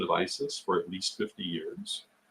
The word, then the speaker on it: Isis: don't even know uh if I had a dollar for every time someone has told me that Isis should be pronounced AET I'd have a lot of dollars and I have to tell you uh speaking from a linguistic point of view AET has not been considered an appropriate translation of Isis for at